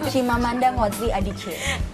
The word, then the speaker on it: Chimamanda Ngozi Adichie: This is like kesalahan di saya karena saya nggak bisa pronounce her name kayak. Chimamanda Ngozi Adichie.